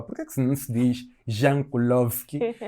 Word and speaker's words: Jankulovski: que não se diz Jankulovski e disse Jankulovski? Não é que existem países em que o J lê-se como o I.